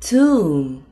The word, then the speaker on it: tomb: 结尾 B 不发音。Climb, bomb, tomb.